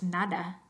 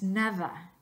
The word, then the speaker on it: nada: Entonces la pronunciación correcta no es nada, es nada.